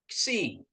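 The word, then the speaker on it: ξι: Terus ada ni, ya, ni, ksi. Nah, ini ksi, ya. Jadi KS, ya, KS, ksi, ya, Bapak Ibu, ya, ksi. Nah, ksi, ya. Jadi disebutnya penekanannya di K itu harus kedengaran K-nya, KS-nya. Jadi bacanya ksi, ya, ksi.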